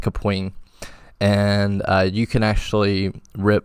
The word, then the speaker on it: Kapwing: called kapwing even though it's spelled like cap Wing but it's actually pronounced kapoing and you can actually